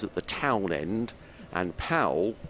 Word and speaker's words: Powell: the Town end and Powell pronounced pole house at the count